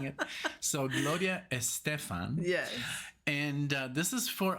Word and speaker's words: Gloria Estefan: you say the way of saying it so Gloria Estefan yes and this is for our dear friend